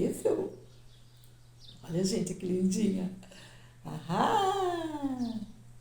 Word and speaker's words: Eiffel: Aprendi que não se pronuncia o I. Eiffel.